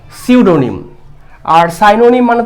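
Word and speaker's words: pseudonym: এবং মিনিংও আলাদা আচ্ছা আর সিউডোনিম pronunciation should be সিউডোনিম পি টা সাইলেন্ট থাকবে এর মানেই হচ্ছে ছদ্দনাম তাহলে অ্যানসার উইল বি সিউডোনিম আর সাইনোনিম মানে তো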